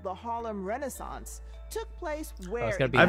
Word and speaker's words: Harlem: Harlem. Yeah. Harlem. That's... Not harem. Not haram.